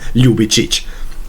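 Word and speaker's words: Ljubičić: seit Jahren immer falsch es ist nicht Dejan es ist Dean lubic ein J ist bei uns immer ein J es ist kein je bzw kommt machen wir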